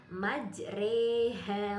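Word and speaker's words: مجراها: Contohnya bacaan imalah juga hanya terdapat dalam satu surat, yaitu surat Al-Hud ayat 41 dengan bacaan majroha menjadi majreha wa mursaha.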